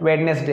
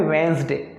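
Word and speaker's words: Wednesday: तो वेडनेसडे नहीं पढ़ते, इसमें ये डी साइलेंट है दोस्तों, निशान लगाया है लाल से, डी साइलेंट है। ये लिखा हुआ है वेंसडे, वेंसडे, क्या लिखा है दोस्तों, वेंसडे, वेंसडे, इसमें डी नहीं पढ़ेंगे, वेडनेसडे नहीं बोलना है,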